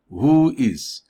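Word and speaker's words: WHOIS: at what is voice voice is pronounced as the phrase who is this is a record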